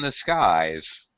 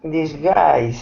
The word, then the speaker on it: disguise: Rebecca, do not say a blessing in the skies. You should say A blessing in disguise.